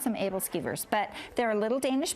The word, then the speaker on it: aebleskivers: think it is and some people pronounce some evil skivers I pronounce them able skivers but they're a little Danish pancake and so